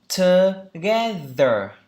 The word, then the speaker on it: together: Together, together, together, together. Ba âm tiết, trọng âm tiết thứ hai.